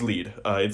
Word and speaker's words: Lied: It's Lied. It's German.